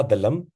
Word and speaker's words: दलम: में हम लोग चंडिका दलम ये थोड़ा गलत उच्चारण लम नहीं है दलम है चंडिका दल दलम जैसे कमल दल होता है ना तो चंडिका दलम